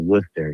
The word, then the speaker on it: Worcester: It's called you you pronounce it Worcester.